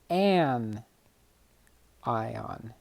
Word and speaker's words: anion: this one's negatively charged this is called an an ion an ion so cations are positively